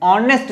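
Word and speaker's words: honest: इसके प्रोनाउंसिएशन में ऑनेस्ट जैसे ही आप बोलते हो तो आपको ओ प्रोनाउंस करना होता है, ओ सुनाई देता है।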